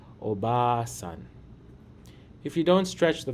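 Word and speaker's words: おばあさん: Instead, we stretch the vowel smoothly to say obasan.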